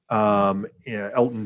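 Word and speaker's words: Elgton: And so this is not the first time that the G is silent, like in lasagna. Elton Jenkins.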